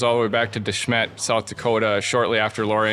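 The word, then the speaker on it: De Smet: our family goes all the way back to Desmet South Dakota shortly after Laura Engles Wilder was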